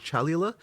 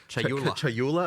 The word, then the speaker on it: Chayula: The acolyte of is it Chalula? Chayula. I always say this wrong. The acolyte of Chayula, for example.